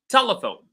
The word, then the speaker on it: telephone: Telephone, telephone. The word te, or the syllable te, is receiving all the stress. Telephone.